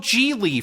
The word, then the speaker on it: Gigli: to pronounce his name it's uh it's by the way what my name is